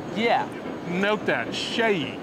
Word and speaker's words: SEYI: Enrique all he do good how do you pronounce the name sh say that again Shay Shay yeah note that Shay right yes the best brand for presses there